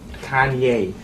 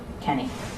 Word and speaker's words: Kanye: bit trying i'm sorry kanye oh i'm from ohio we say kenny that's how we pronounce it well i don't care where you're from you pronounce my name kanye oh okay let's go